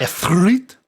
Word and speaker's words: Ifrit: strange demonic hellfire beast ifrit in the trailer as well which uh it's pronounced effort now whatever it's different